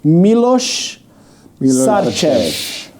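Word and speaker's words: Miloš Sarčev: let me pronounce this properly. Milos Sarcev.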